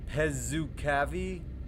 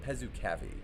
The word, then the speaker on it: Pezukavi: Pezukavi. Pezukavi E39. I've been there. So, it's not Pezuk Cavi.